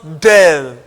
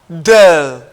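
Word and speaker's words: ∂: will pronounce the symbol the symbol is written this way and it is pronounced del del is not d this time around is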